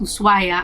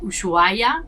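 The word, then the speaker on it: Ushuaia: I started pronouncing it usua because it has an sh and all my family and friends have been teasing me because the sh does not make that sound in Spanish Ironically in our specific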